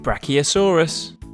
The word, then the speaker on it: Brachiosaurus: Brachiosaurus.